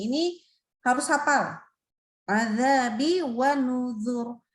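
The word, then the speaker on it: نُذُرِ: Adzabi wa nuzur. Nah, ini bacanya aslinya tuh nuzuri. Nah, gitu ya. Tapi ada ya-nya dibuang. Akhirnya jadinya nuzur. Maka boleh dibaca tipis adzabi wa nuzur tipis atau wa nuzur tebal.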